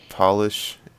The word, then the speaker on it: Polish: about these words josh polish and herb josh that is in fact the correct answer you see they're all pronounced differently with the first letter is capitalized you see that amazing